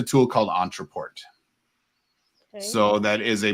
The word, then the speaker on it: Ontraport: Entreport.